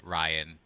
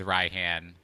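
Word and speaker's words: Raihan: aggravated me that they completely validated steve's pronunciation of ryhan i'm like y'all could have said ryan but no no you you went with ryhan and now you have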